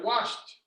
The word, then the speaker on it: washed: my car very good i washed my car and it sounds like a t okay so that's why